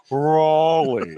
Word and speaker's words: Raleigh: It's Raleigh.